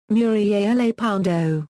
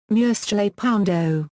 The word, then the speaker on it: Murciélago: The word is pronounced, Murciélago, with a voiceless dental fricative, I, in the Castilian Spanish spoken in most of Spain. However, the Italian automaker often uses the Southern Spanish and Latin American Spanish pronunciation, Murciélago, with an s sound. Many people in Italy pronounce it, Murciélago, as if it were an Italian word.